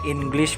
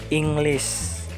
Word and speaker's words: English: paling dasar adalah Ingris Jadi ngomongnya Ingris bukan English skill lagi Ingris gamenya ditekan secara kuat Jadi terdengar seperti Ingris bukan English 2 adalah ask kebanyakan